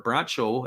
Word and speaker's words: Bracho: it is a salvino bracho or bracho as they would say his name a big Lefty who